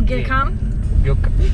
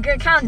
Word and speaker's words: Gökhan: What does that start with? G O K. OG. So Gökhan. The last letter is N. N. Gökhan. Like Nancy. Nan.